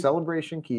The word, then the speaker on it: Celebration Key: could talk about with Celebration Key or Celebration K or whatever. Royal Caribbean's the only one that messes up and calls it K, but that's just because it rhymes.